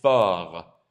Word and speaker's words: fort: Notice again, the T is silent. Il est fort.